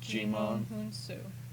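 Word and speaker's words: Djimon Hounsou: How do you pronounce his name? Jimon Hunsu.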